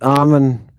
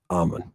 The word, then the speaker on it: Eamon: Okay, it's Amon. This guy has a problem the whole time. Even though he hears other people pronounce it Amon. It's Amon. For everybody out there, Amon.